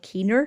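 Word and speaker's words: caoin: she was a professional Keener so Keen as in that's an anglicization of the Irish word c-a-o-i-n which is pronounced the same way which means to cry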